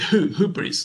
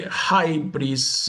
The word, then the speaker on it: hubris: Yes, I pronounce it hubris, like keeping the upsilon that we have in Greek. Instead, if you say hybris, if you're using the